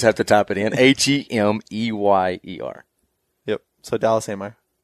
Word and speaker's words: Hemeyer: H-E-M-E-Y-E-R. Yep. So Dallas Hemeyer. This is nothing like it sounds, not phonetically.